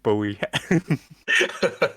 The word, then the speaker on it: Bowie: Oh, yeah, I'm sure I saw an interview with him where he said it was Bowie like the knife. And We're it's all learning actually, and growing. it's actually David, not David. David. David Bowie.